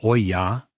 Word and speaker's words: olla: An olla, pronounced oya, is an unglazed terracotta vessel with a narrow neck and a rounded body.